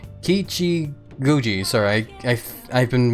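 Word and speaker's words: Kichijōji: or Ki Guji. Sorry, I I I've been mispronouncing it like several times there now, but I think that's how you're supposed to pronounce that day.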